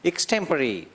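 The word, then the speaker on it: extempore: हाँ, actually spelling तो ऐसा है एक्सटेम्पो, ठीक है, लेकिन अगर इसका उच्चारण की बात करें तो थोड़ा हटके उसको बोलते हैं। इसको बोलते हैं, इक से शुरू करते हैं स्टेम और लास्ट में परी बोलते हैं, एक्सटेम्परी।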